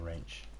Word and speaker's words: wrench: A wrench. You're a wrench. I hate when they put silent letters at the beginning of things, or in the middle of things, like the word swords.